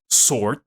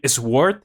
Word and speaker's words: sword: So I learned how to pronounce sword. For example, I used to say sword when I was, because I just read the word, right?